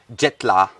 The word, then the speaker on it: Jetla: How do you say it? Jetla. Jetla. So la is for tea or jet? La mean leaf. La mean leaf.